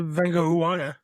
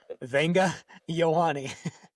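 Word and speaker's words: Vega Ioane: I also don't think they would draft Venga Uwana. Crushed it every single time. Never said it wrong once. Definitely not. I don't think they would draft him there either. Venga Ioane.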